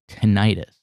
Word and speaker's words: tinnitus: ears oh thing like but you mispronounce it on purposes and i thought it wasn't with an eye it's tinnitus okay you know who had